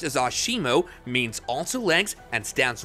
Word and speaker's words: ASIMO: using the technology developed throughout its lifespan Asimo pronounced as Asimo means also lengths and stands 130 cm tall